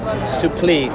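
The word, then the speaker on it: supplì: I've just learned that it's pronounced suppli.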